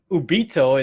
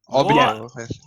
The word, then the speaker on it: Obito: Ubito in Naruto Shippuden. What? Obito.